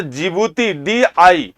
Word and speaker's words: Djibouti: मैप में ध्यान दीजिएगा, इरिट्रिया यहां पे है, इथियोपिया यहां पे है, सोमालिया यहां पे है, और जिबूती, DJIBOUTI, जिबूती की स्पेलिंग डी से शुरू होती है।